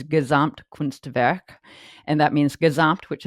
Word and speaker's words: Gesamtkunstwerk: And it's, will probably mispronounce this, but it's Gesamtkunstwerk.